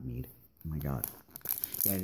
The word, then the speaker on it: Mid: Or Cid, not Mead. Oh my god. Yeah, it is. I think it is pronounced Mead and not Mid, because that's the way it was pronounced in Legend of the Crystals, so.